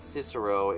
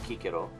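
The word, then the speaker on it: Cicero: how yeah K and it wasn't cisero it wasn't I don't know Chicho or the you pronounce it was kikiro that's just how that's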